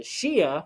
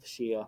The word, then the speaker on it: Shia: small portion of the population of iraq the shia which is spelled s-h-i-a they once again are the ones